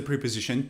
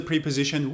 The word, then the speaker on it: preposition: you can use the preposition too you can also use the prepositioned with and say packed the word is not pronounced preposition it's pronounced preposition we cannot use the long e and say pre -position